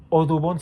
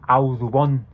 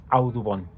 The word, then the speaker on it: Audubon: La de John James Odubon se pronuncia Audubon. Audubon.